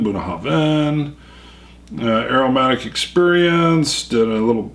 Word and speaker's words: Bunnahabhain: when I tried it but they got the pronunciation buah Haven aromatic experience did a little smoke light fruit